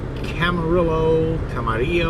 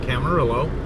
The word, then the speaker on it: Camarillo: We are 156 miles from final in Camarillo, however you want to pronounce it. I'm American. This is the United States, so I pronounce it Camarillo, California.